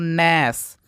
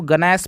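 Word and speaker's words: gnash: जी silent हो जाएगा इसको पढ़ते हैं दोस्तों नश यानी कि कुछ लोग इसको गनेश पढ़ेंगे तो गनेश नहीं पढ़ना यहां पे जी साइलेंट रहेगा इसको नश पढ़ेंगे ये देखिए इसको पढ़ेंगे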